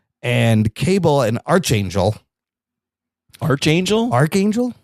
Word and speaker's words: Archangel: How do you say that? Is it Arch? It's Archangel. It's Archangel. Yeah, but there's a CH in there. But it's CH. Archangel. But this should make it a K, you fucks.